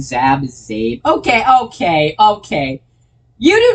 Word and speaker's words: Zab: okay in general I for now I'm I'm pronouncing Zab Zab okay okay okay you do not know how many times people have gotten my name wrong all right I've been called zap dab Zim Zach Zeke it's it's ridiculous at